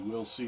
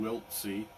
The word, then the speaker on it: Wiltse: the t as in wilt c um but an easy way for people to remember how that's pronounced is we'll see we'll see and that's